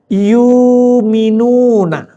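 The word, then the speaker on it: يؤمنون: alladzina yumminuna bil ghaibi wa yuqimunas shas maka menulisnya kalau kita biasa yukminun dibacanya yuminuna hamzahnya dibuangnya itu ciri khas bacaan riwayat waras alladzina yumuna bil ghaibi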